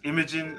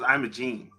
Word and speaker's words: Imogen: a minute to say her name was Imogen I thought it was Imogene Homeworld three all right